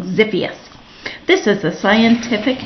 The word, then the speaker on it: Xiphias: X is for Xiphias gladius, pronounced, oops, I said it wrong, Xiphias.